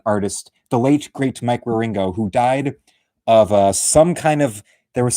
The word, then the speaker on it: Wieringo: yes, that's how you spell the last name, Wieringo.